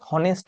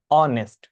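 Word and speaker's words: honest: করা যাবে লেডি বা ওম্যান ইজ অনেস্ট অনেকে উচ্চারণটাকে হনেস্ট বলেন কিন্তু না এক্ষেত্রে উচ্ছ থাকে এইচটা তাই কি হবে অনেস্ট পুরুষ হন অসৎ তাহলে ম্যান ইজ ডিজনেস্ট ম্যান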